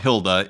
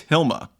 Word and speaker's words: Hilma: It's not Hila and it's not Hilda, it's Hilma A.